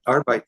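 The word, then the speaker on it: Arbeit: is uh and forgive me if I don't pronounce it correctly trate TR arbite AR thank yeah arbite the word German word for for work and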